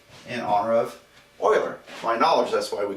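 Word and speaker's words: Euler: prolific mathematician in history it looks like it's uler but it's pronounced Oiler he was German and he lived from uh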